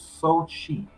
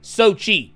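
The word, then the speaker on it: Xochitl: uh carter uh so one thing i found out how to say her name it's so cheap it's wait what was it yes oh so so okay sochi got you interesting yeah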